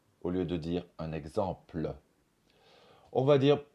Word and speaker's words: exemple: pe be par exemple on va dire un exemple au lieu de dire un exemple on va dire possible